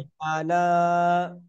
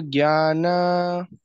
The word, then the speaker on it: ज्ञान: ज्ञा जे संयुक्त अक्षर छे बरोबर। ग अने य ज्ञान जॉइंट शब्द छे, एटले जॉइंट शब्द हमेशा प्रेस करीने बोलवानो, थोड़ो एना ऊपर भार आपवानो।